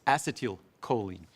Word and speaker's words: acetylcholine: We have acetyl L-carnitine, but the first word of that acetyl is the same as acetylcholine. It's acetylcholine.